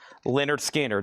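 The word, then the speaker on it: Lynyrd Skynyrd: VG Plus $14.99 and Leonard Skard pronounced Leonard Skinner.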